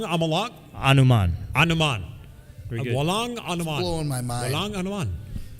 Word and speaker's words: Walang anuman: And Walang Anuman is how you say did you're it. welcome. You're Walang Amalak Anuman. Anuman. Very good. Walang Anuman.